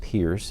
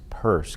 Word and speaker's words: Peirce: The key people, as I've already mentioned, are Dewey himself, William James, and Charles Peirce. His name is not pronounced Pierce, it's Peirce, kind of like a woman's purse.